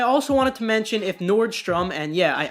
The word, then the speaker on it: Nordstrom: wanted to mention if Nordstrom and yeah I know it's Nordstrom I said Nord storm in the previous video I know it's great